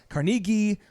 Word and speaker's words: Carnegie: like the book Dale Carnegie his name's actually pronounced Dale Carnegie I read his book